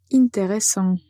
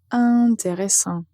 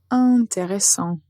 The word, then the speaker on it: intéressant: est la lettre T, on va prononcer le début de cet adjectif de façon nasale.